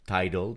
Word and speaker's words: Tidal: Tidal, par exemple.